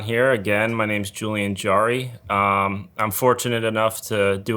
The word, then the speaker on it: Jarry: Yeah, everybody says Jerry, but it's Jarry. Jarry?